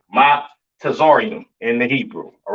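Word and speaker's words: מצרים: Uh, Mizraim, all right, aka your Egyptians, all right, pronounce Matazarium in the Hebrew, Matazarium in the Hebrew, all right.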